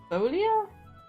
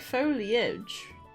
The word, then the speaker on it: foglia: B to me the G won't be pronounced in that look Oscar I'm not pronouncing y g okay I don't know what that means either but I I don't know what you mean that you won't be pronouncing the the word that I Googled foglia so it's Folia oh I guess I sound like foliage right Rooney Folia so